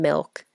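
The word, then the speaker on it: MILCK: is an artist named Milk, and she released her song Quiet. It's like spelled funny though, right? What? The name, it's spelled like M-I-L-C-K.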